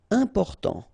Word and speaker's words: important: Important. So final T not pronounced. And then remember, you've got this EM, and after that it's a consonant, so it is here nasal.